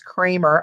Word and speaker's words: Kramer: from Kramer Kramer now they corrected us it's Kramer I've called it cream or creme er Kramer so they said the doctor himself calls himself dr. Kramer I guess he knows